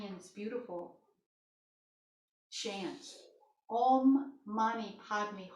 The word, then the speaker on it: Padme: Padme is spelled P-A-D-M-E. Padme means the lotus, and it represents your body awakening as a vehicle of your higher self.